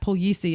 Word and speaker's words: Puglisi: I said our guest is Brent Puglisi, and if it looks like that doesn't say that, Puglisi is how you say that last name, and it is Brent Puglisi.